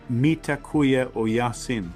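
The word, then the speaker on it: Mitakuye Oyasin: In ancient Native American wisdom, uh they have a phrase that's I think pronounced mitakuya o yasin, which is we are all relatives.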